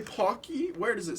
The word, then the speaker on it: Pocky: Is it it's pocky. Pake? It's pocky. It's It's pronounced Pocky?